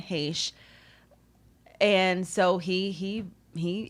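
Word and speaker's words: Heche: h-e-c-h-e i don't know so he said no one has ever mispronounced it as hesh it's always been heish and so he he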